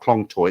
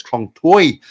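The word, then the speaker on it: คลองเตย: wrong toy Tai person so it's not Kong toy it's Kong toy uh you know over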